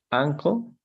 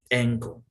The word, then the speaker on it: ankle: Ankle. Ankle. En algunas ocasiones la A tendrá esa pronunciación como E, ankle, ¿ok?